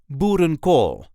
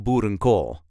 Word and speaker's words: boerenkool: There is a light emphasis on the last part of the word.